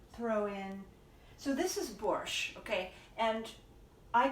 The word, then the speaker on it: borscht: of the beets and it is not spelled with a T at the end in Russian and Ukrainian it's it's a letter and it's like fresh cheese the Shh there's no tea I don't know why